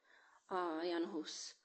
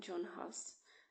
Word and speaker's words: Jan Hus: uh Baldo uh then it was Vickliffe and Yan Hus. Uh people sometimes call him John Hus in English.